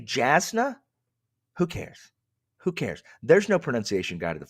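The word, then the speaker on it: Jasnah: Just like if I say Jasna, who cares? Who cares? There's no pronunciation guide to the front of that book. It's Jasna.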